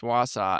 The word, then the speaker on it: Wausau: I didn't know how to pronounce it, but yeah, I Wausau? think yeah, I think it's Wausau, and Mhm.